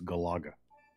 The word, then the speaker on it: Galaga: somebody in your chat making fun of my pronunciation g go ask Modern Vintage gamer it's Galaga oh come on why am I not getting